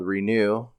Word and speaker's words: Reknew: And he has a podcast called Renew, which is spelled Reknew.